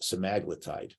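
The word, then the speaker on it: semaglutide: glp-1 this is your semi-glutite uh I've also heard it pronounced semaglitide in some some places too so I'm going to use semi-glutide because I'm from the East Coast so um glucose independent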